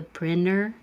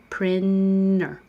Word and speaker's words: printer: You don't have to say that T in printer because it's after the N in the unstressed syllable. Your tongue's already going to the N. Printer or printer. They're both correct.